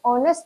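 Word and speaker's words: honest: एच है नहीं इसमें एच होनेस्ट नहीं होता है एच होता है जो कि साइलेंट होता है और यह ऑनेस्ट साउंड है इसीलिए यहां पर आर्टिकल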